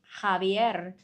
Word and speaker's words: Javier: Javier is how it's pronounced in Spanish. But if you prefer Javier, let's do Javier.